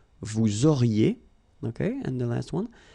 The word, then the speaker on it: auriez: Vous auriez, liaison here, and then EZ will go like E. Vous auriez, okay, and the last one.